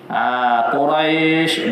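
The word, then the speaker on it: قريش: Quraisy dua harakat Quraisy tu.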